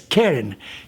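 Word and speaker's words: קרן: In Hebrew, it's Karan or Panaf. Karan is spelled with 3 letters, so you can also read it as Keren.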